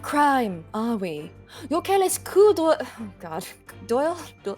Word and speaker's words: coup d'oeil: Your careless coup d'oeil... Oh, God. Doyle? You read the D into the O like together for French. So it's like... Coup d'oeil?